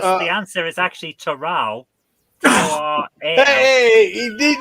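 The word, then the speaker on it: Toral: Just how as it's pronounced. Gorilla, should we give her this point? Because Uh, the answer is actually Terral.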